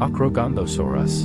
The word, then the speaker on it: Acrocanthosaurus: Acrocanthosaurus pronunciation acrogandosaurus name meaning High spine lizard diet carnivorous